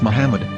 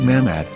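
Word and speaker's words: מחמד: muslim prophet or as mahmad with no a after the h according to ben yehuda's hebrew english dictionary it is correctly pronounced as muhammad not mahmad so how we're going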